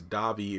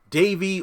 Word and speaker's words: Davi: I'm like, well, his grandmother is Italian, so I guess Davi is the correct pronunciation, D-A-V-I. Davy or Davi, I'm going to do my best to say Davi.